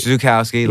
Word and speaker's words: Zukowski: Chuck Zukowski. Zukowski, Chuck, like Charles Bukowski is Chuck right, Zukowski.